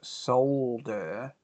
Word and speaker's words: solder: Notice I pronounced solder with the L. because that's the way that normal people pronounce it. Anyone who pronounces it different is backwards. It's pronounced solder.